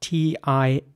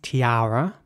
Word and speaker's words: tiara: next word is spelled t-i-a-r-a and it's pronounced Tiara in British English and in American English it's Tiara here's an example of